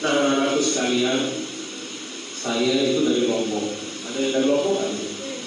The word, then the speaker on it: Lombok: Lombok, pengucapannya Lombok, tapi kan tertulisnya Lombok.